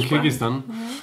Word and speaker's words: Kirgisistan: Du hast es sogar richtig ausgesprochen. Was? Kirgisistan. Ja, weil die meisten sagen Kirgisistan.